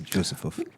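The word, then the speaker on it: Józefów: Yes, Josefov.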